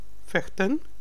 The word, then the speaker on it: vechten: Niet vechten. V is pronounced as V.